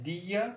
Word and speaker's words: día: ¿Qué día somos hoy?